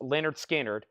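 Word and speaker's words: Lynyrd Skynyrd: RPM and this is Leonard skinnard pronounced Leonard skinnard cut from the original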